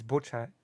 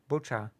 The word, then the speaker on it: Bucha: severed body parts now it's butcha no without the tea butcha without the tea there's no tea in butcher there is no T in the word butcha okay there's no T it's b u c ha a so yeah but